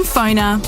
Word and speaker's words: Pfoner: Find people easier, market yourself better, and get connected using Phoner. That's spelled Pfoner. Phoner.